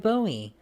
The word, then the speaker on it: Bowie: he thought that the last name was actually pronounced bowie but it's really bowie um but the alamo defender who's known for